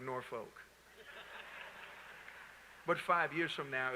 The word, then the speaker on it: Norfolk: a very different norfolk notice how i say it like we from norfolk right people laying from here to be like norfolk but five years from